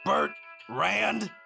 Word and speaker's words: Bertrand: How do you say that? Bert Rand. Bertrand. So, like Bertrram, but Bert Rand.